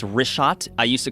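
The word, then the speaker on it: Richat: first couple I just want to say it's rot I used to call it rick hot I was mispronouncing it but let me ask you this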